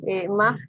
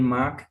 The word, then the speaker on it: mag: Seinen Briefkasten mag ich nicht so. Okay, den mag ich nicht so. Cuidado con esa G de mag, eso se pronuncia g, ¿no? Mag. Mag. Casi como una K.